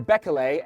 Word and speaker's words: Bekele: Now he, compared to, I'm just gonna say compared to his fellow countryman Bekele, or Bekele, as I've heard it recently pronounced, Kenenisa Bekele, he